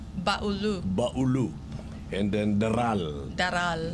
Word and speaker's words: Baulu: of these dishes in mindo Mandi and then baulu baulu baulu and then Dalal Dalal yeah that's it that's uh how to pronounce it putle Mandi and baulu andu wait